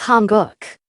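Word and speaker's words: 한국: We read this as guk. It's Hanguk. It means Korea.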